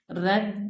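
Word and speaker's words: read: A book is being रेड बाय मी। रीड और रेड के spelling same है, सिर्फ बोलने का डिफरेंस है।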